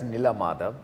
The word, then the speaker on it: Nila Madhab: Yeah, it's actually in Odia it's Nila Madhab.